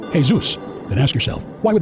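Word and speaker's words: Jesús: Ask any Spanish or Latin-speaking person to pronounce the word Jesus, and they will say, Jesus.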